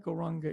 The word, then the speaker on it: Gauranga: mantra go runga and we divide gauranga into four syllables go ra um and our technique of